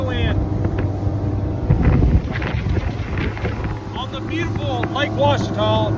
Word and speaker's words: Ouachita: It is Ouachita. It is a French word. Well, I take it back. It's an Indian word based off a good hunting ground, and then it's spelled by the French with an O-U instead of a W.